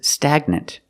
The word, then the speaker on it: stagnant: this word this is stagnant the G is in the middle so we pronounce it with the hard G sound stagnant stagnant stagnant means still